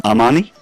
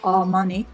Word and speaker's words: Armani: better order and then Armani Armani Armani yes and the a in Italian is never like oh all money it's always at a